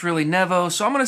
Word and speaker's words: Nevo: or something like that they say sometimes people pronounce it nevo but it's really nevo so i'm going to say nevo just out of respect for them but i've